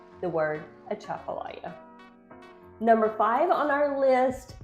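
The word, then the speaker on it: Atchafalaya: that's a Chapala Basin so that's how you pronounce the word a Chapala number five on our list is the Louisiana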